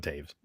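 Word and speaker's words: Toews: his name yeah so that's how you pronounce this last I always wondered how you pronounced his name the t-o-e-w guy or whatever that one yeah Jonathan Taves it doesn't even look like he would say it that way and all right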